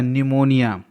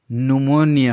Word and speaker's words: pneumonia: PNEUMONIA, न्यूमोनिया, जिसको generally बोला जाता है निमोनिया। इंटरनेशनल फोनेटिक अल्फ़ाबेट के अकॉर्डिंग इसका शुद्ध उच्चारण न्यूमोनिया होता है।